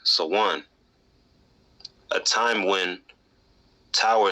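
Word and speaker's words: Samhain: harvest Gaelic Festival of Sam Han pronounced so one a time when Tower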